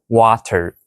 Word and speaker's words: water: For example, you can say water, water. But to sound more like a native, you can pronounce it water, water. So what's the difference? In water, the T isn't a clear T sound. It's a sound called a tap.